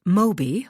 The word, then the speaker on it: Mobi: literally an escape car I restate what I mean pronounced Mobi like the whale its powerful propulsion system